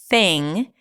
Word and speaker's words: thing: You know that pronunciation is my thing. And notice how I said thing without popping my G sound at the end because it ends with an NG. So you don't really release the G here.